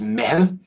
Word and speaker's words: meitheal: And this is an Irish word. The word is pronounced Meitheal.